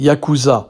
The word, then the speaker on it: yakuza: l’on appelait les 8,9,3, chiffres qui se prononcent respectivement en japonais Ya-ku-sa, restent encore aujourd’hui, 150 ans plus tard, les plus extraordinaires. (virgule musicale) Le mot yakuza - ne pas confondre avec Jacusi -(s’il vous plait) - est